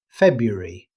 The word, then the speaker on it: February: February. Although every letter is written, most native speakers simply say February, dropping the first R during normal conversation.